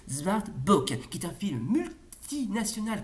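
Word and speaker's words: Zwartboek: franco-québécois et en handais ça se prononce zart book qui est un film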